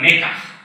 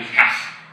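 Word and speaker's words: מקח: and we still say la'amod al mekach and not al mikach, right? But the allegedly incorrect pronunciation mekach is in itself a great example for the diasporic vitality of Hebrew. The change in the pronunciation from mikach to mekach did not occur in Ashkenaz.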